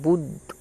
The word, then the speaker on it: বুদ্ধ: এখানে আবার যে দ তাহলে এই বুদ্ধ এই বানানটা দেওয়া আছে বুদ্ধ এক্ষেত্রে বয় হস এর সাথে দ উচ্চারিত হবে বুদ্ধ বুদ আর ধ হ হ হ হ হ